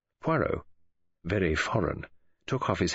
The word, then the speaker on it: Poirot: Monsieur Poiret." "Monsieur Poirot," he corrected her with an emphasis on the last syllable.